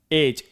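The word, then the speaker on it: edge: अगला एज। देखिए डी के बाद क्या है? जी है। हटा दो इसको। फिर भी क्या पढ़ेंगे हम? एज।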